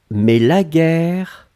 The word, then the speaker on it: guerre: Guerre, on écrit effectivement G-U-E-R-R-E. Donc vous avez le double R, donc qui ouvre la prononciation du E, et donc c'est la raison pour laquelle vous prononcez guerre.